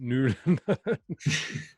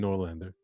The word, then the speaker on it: Noorlander: Because, I just went straight to English and went Noorlander. I liked it. I apologize. It sounds cooler, I think, actually, than Noorlander.